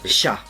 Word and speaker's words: sha: And then is chai or Sha. sha? Sha. Chai is not chai, but sha.